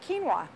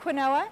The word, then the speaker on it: quinoa: um a pasta that is made out of quinoa so it's this it looks like quinoa but it's pronounced quinoa and uh it's a very high